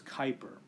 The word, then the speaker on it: Kuiper: the Kuiper belt now notice the spelling here k UI PE or that's a weird name but the way that you pronounce that is Kuiper and the Kuiper belt